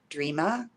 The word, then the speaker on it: Dreama: Dreama. Dreama. Right. Yeah. So do you say it like D? Do you say Dreama or do you say Dreama? Dreama. Dreama, almost like it's a J or a G, right?